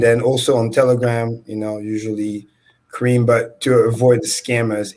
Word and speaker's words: Karim: Karim.